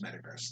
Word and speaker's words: Metagross: you're gross you're gross i mean it's the word gross so it's metagross to me metagross i did used